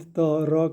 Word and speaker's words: त्र: त आधा और र पूरा, त्र। इसीलिए त के साथ और नहीं लगेगा, नहीं प्रोनाउंस हो रहा है, उच्चारण नहीं किया जा रहा, लेकिन र के साथ अ का प्रोनाउंसिएशन हो रहा है। जैसे त्र, तो त के साथ त जल्दी कह रहे हैं और र पर आके जोर दे रहे हैं, त्र।